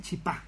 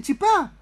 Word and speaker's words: chipá: hay que decirle que hay una pequeña diferencia en la forma en que se pronuncia en Buenos Sí, sí, Aires sí, y sí. que a nosotros nos molesta un poquitito los misioneros, porque allá en Buenos Aires le dicen chipá, Chipá. chipá, le dicen chipá.